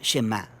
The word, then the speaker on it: Shema: La primera palabra del Shema es oye o escucha, y en hebreo se pronuncia Shema.